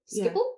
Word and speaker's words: Schiphol: Is that how you pronounce it? Schiphol?